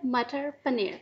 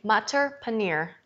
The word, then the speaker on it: matar paneer: mutter paneer how do you say it again mutter paneer mutter paneer I'll get that mater paneer I notice a